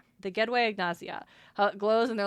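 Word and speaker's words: gedwëy ignasia: The Gway Agnazia.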